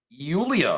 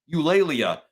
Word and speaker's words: Eulalia: Sorry for mispronouncing it the first time. Eulalia.